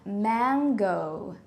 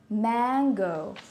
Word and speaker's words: mango: word is pronounced as mango mango focus on this sound also the last syllable man gonna mango man